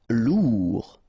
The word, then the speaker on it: lourd: Lourd. Final D not pronounced.